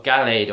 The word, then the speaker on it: Gallade: of your screen is mega glade or gallade or however you want to pronounce i pronounce it glade yes this is mega